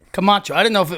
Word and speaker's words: Camacho: Camacho.